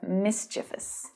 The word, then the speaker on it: mischievous: We also use the word mischief as well, which is often pronounced incorrectly as well as mischief, but it's mischief, or mischievous.